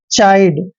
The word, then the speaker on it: chide: Next word है CHIDE, CH का उच्चारण हमेशा च करते हैं, आई को आई ही पढ़ना है और डी का उच्चारण डे करते हैं, और लास्ट में ही आता है तो हमने नहीं पढ़ना है।